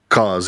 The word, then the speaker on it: CAW: In Fire Pro, we don't call them like how do you say cause or CAW? Yeah, cause. Yeah, cause.